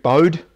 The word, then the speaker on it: Bode: Hendrik Bode is probably well known to you from the Bode plot. Sometimes it's pronounced Bode plot.